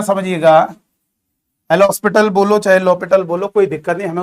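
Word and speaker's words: L'Hôpital: यहां पर H और S आपका साइलेंट की तरह है, लॉपिटल, कुछ लोग एल हॉस्पिटल भी बोल देते हैं, कोई दिक्कत नहीं।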